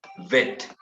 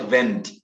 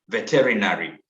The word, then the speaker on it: veterinary: So the word is vet, not vent. When you put vent, then you're going to fail to pronounce that word well. The word is vet, veterinary.